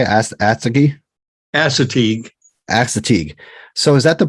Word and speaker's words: Assateague: Assateague.